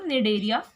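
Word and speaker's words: Cnidaria: Next आती है आपकी फाइलम निडेरिया, सी साइलेंट आता है, निडेरिया बोलिए या फिर सीलेंट्रेटा भी बोल सकते हैं आप।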